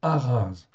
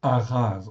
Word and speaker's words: Ahaz: OK, c'est Araz en hébreu. Donc ça se prononce Araz en français à chaz. OK. Donc le prime H dans toutes en fait ici nos traductions en fin de compte se prononce comme un R en fait ici quelque